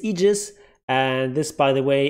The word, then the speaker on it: aegis: a latin lone word it's almost always pronounced e there are some exceptions